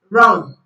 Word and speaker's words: wrong: Silent W is silent before R at the beginning of a word. W is silent before R at the beginning of a word. For example, wrist, right, wrong, wrap. Wrist, right, wrong, wrap.